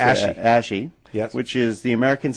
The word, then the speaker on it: ASHI: ASHI.